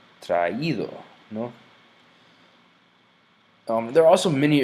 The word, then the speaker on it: traído: It's just to make an extra syllable here, so it's not traído, but rather traído, no?